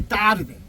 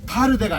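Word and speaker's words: tarde: 무이 따르데. 이게 타르데가 아니거든요.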